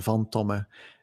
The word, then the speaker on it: van Tomme: my first name and vom Toma is my family name and it's a it's a Dutch name mm II our company